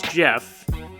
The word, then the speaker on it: Gef: Jeff the talking Mongoose now his name's Jeff but his it's spelt gef he's this little boy